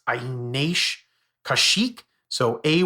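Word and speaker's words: Kaushik: Google can't say his name it's it's a kashik so a y i n a and then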